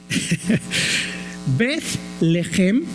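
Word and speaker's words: בית לחם: decir bet casa lejem si nunca escupido no va a poder pronunciar eso lejem bet lejem o betleem quiere decir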